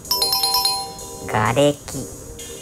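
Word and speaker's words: 瓦礫: 正解はがれき。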